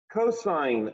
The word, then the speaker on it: cosine: can come up with cosine of theta all often written cos do not call it cos or cos to me it's a cosine you can use two